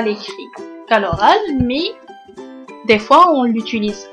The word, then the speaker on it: mets: On ne prononce pas le S à la fin.